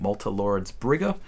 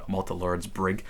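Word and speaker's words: Malte Laurids Brigge: Rilke's The Notebooks of Malte, Laurids, Brigge, and actually pronouncing it correctly this time. I made a whole video on this where I said Malte, Laurids, Brigge, but starting with the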